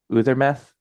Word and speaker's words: Øðåŗmaþ: Uthermeth?